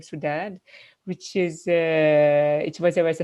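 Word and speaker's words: Soudade: I like how they pronounce sometimes my name as a Portuguese way, as a Saudade instead of Sudad.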